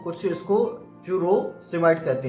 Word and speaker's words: Furosemide: person इसको फस might कहते हैं कुछ इसको फ्यूरो समाइट कहते हैं एफ यू आर ओ एस ई